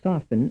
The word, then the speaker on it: soften: mean statement B hey the T in the word soften is silent B the letter T in the word soften represents no sound frame 36 in statement